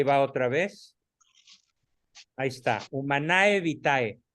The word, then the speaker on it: Humanae Vitae: otra vez Ahí está humanae vitae se pronuncia humana evite y se traduce como